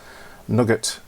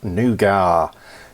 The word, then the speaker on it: nougat: How to pronounce nugget or nougat, depending, I think, as I have replied to that, depends where in the world you're from, I think. I grew up where it was nugget. You bought it in a bar, it took your teeth out, but it was called nugget.